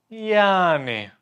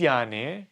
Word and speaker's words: yani: Yani. You lengthen it. You drag it out a little bit. So this yani means so-so.